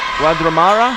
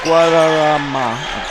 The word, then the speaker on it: Guadarrama: Omar Guadramara. I said his last name wrong, but Omar had it over to 24. Spin move. Number 3 goes up and in. Number 3, Omar Guadarrama.